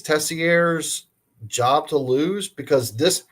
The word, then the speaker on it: Tessier: name of Head Hayden Tessier, Teser, Tessier, I believe is how you say it.